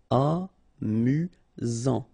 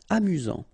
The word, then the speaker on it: amusant: You've got only one S here between the vowels, so it's really this Z sound. Amusant. Amusant.